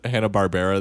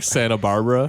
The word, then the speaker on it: Hanna-Barbera: incorrect thank you coming in i candidly mentioned hanna-barbera the other day but he pronounced it I'm Santa Barbara hanna-barbera yeah I need to get to me